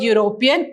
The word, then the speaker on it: European: in this word the word european when you pronounce this word european it sounds y o u european so it